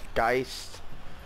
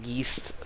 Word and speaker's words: Geist: Geist. I've heard a lot of YouTubers call it Geist. But I believe it's pronounced Geist.